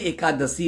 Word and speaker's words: एकादशी: 81। 81 तो 81 है, 8 और 1 बोलते हो। 81 नहीं होती है, एकादशी होती है। उच्चारण शुद्ध लिया करो।